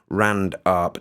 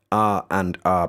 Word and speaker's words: RandArp: pointed out that this may actually be called rand arp not r and r as i was initially calling it big thanks for